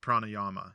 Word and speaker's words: pranayama: So that's another thing about Sanskrit is they always usually end with an A, but like when you pronounce it, you're supposed to just like cut it. You can say yuga. Like pranayama. You're supposed to say pranayam. You can say both. Okay. Both are accepted.